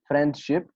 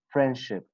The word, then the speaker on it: friendship: differences sorry friendship friendship most of the people reading like this friendship but when you apply this rule you will say friendship friendship without the between them and